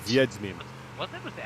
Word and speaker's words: Wiedźmin: Wiedźmin. Was it with the M? Nope, it's with a W, which is pronounced like yeah, a V.